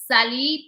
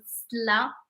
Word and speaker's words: سلا: So when you are saying someone from where originally they are from, but كان تكون في سلا, it's like Sally, but we pronounce it sla.